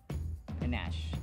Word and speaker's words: panache: Panache. There's a schwa on the first syllable.